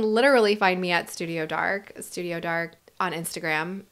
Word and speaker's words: DARC: They can literally find me at Studio Dark on Instagram, DARC, pronounced dark, and Camp Kramer at camp_Kramer, I think is how you'll find me.